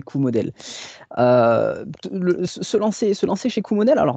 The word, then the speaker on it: Coomodel: En fait, Et du coup, en fait, si tu veux, déjà, dans un premier temps, on dit Coumodèle. La prononciation, la vraie prononciation, c'est Q-Model.